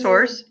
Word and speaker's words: source: Source? source. The E is silent.